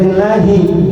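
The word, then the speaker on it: لله: Bacanya lillahi karena ada lam. Lam lillahi milik Allah.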